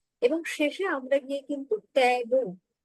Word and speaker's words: tarot: শেষে আমরা গিয়ে কিন্তু ট্যারো অর্থাৎ ট্যারোট বলছি না তেরো বলছি তিন সাইলেন্ট থাকে তো 13 কথাটা এসেছে